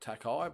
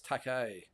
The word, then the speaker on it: Takei: I think I pronounced it Takei, but it's Takei.